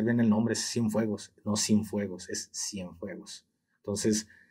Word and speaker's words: Cienfuegos: Estamos hablando cuando es detenido Cienfuegos, ¿en el 2020 o en el 21?